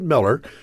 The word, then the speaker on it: Mueller: This was Austin's Miller Airport, named after Robert Miller he pronounced at Miller, who served on the City Council in the 1920s.